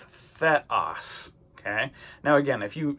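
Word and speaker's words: θεός: Epsilon makes an e sound, not an a sound. So a lot of times students will say theos. But notice it's not an ada. It's not that long a sound. It's an e. So it's theos.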